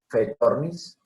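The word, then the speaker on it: Phaethornis: Clorofanes es pizza, PHF, PHAE, fe, fetornis.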